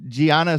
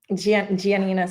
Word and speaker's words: Giannina: It's at Gianna. Am I pronouncing that correct? Giannina. You almost got it.